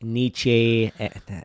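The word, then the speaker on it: Nietzsche: And so I think even I've been reading a lot more uh of like Nichi, that's how you say his name, Carl Jung, and they talk about the shadow and the darker aspects of us.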